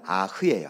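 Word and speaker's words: אח: 히브리어는 아흐예요. 아흐. 근데 이 아흐라는 이 뜻은 아까 얘기한 것처럼 형제. 그래서 네 아우가 어디 있느냐, 오늘 질문은 네 형제가 어디 있느냐, 이렇게 번역을 해도 됩니다. 그래서 아흐라는 우리말 아우라는 이 히브리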